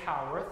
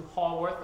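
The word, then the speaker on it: Haworth: may not realize that how earth is spelled h-a-w-o-r-t-h and you know you know about the brontes if you say howarth as opposed to holworth or hayworth and um ruth grew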